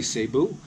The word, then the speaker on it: Cebu: just so everybody knows there's different ways of pronouncing different things in the Philippines depending on where you're from some people say say boo some people say seafood so for you for